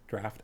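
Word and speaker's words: draught: beowulf the sharkies say not used to seeing drought or draft in writing so you too did not pronounce it draft at first english is odd sometimes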